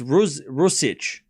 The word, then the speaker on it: Ruzic: So, it's Rousich 15. Love, you butcher the middle syllable.